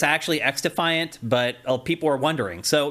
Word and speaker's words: xDefiant: Well, people are also confused on whether you actually pronounce it xDefiant or cross-defiant because the X in front of it is lowercase. Right. So I think it's actually xDefiant, but people are wondering.